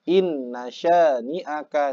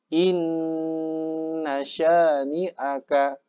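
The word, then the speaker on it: إِنَّ شَانِئَكَ: Nah, inna syani'aka. Ya. Bukan inna syani'aka, itu terlalu cepat. Harus ditahan dulu. Inna syani'aka.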